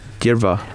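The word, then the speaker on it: Dearbhla: one with the BH if you think about the BH being a sort of a v g DEA derva uh der der is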